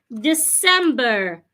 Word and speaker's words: December: it in words like December some people pronounce this word as December the C does not sound like Zed it's December not December